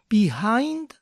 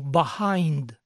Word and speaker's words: behind: es Odisea y có es la pronunciación de esta palabra behind o behind alguien comentó que vive en los Estados Unidos y nunca Ha oído la segunda pronunciación behind solo behind ambas pronunciaciones son válidas y Considero que la segunda pronunciación behind actualmente es la más usada Quién tiene la razón